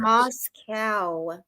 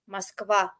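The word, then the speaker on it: Москва: Moscow. No, I know, but what is it? How's it pronounced really? Moskva.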